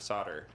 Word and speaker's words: solder: and English pronunciation of solder. In the UK and British Isles, it's... solder? Solder. Solder. Yeah, which is how it's you pronounce the L. In America, it's solder, S-O-D-D-E-R, in pronunciation.